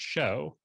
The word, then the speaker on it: shew: shoe and it's because they're pronouncing the word s-h-e-w like it looks but it's actually meant to be pronounced show right well like the